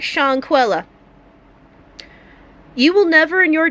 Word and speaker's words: Chawnquela: bestow a beautiful baby with the name like shank Wella and that is how the name is pronounced shank Wella it is spilled Shawn kwela but it is